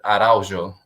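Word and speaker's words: Araújo: ways to pronounce it there's the actual portuguese way which you know with the j and like the j you pronounce it araujo but if you say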